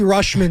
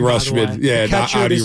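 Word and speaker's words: Rutschman: their home run derby adley rushman is the pronunciation rushman star catcher one of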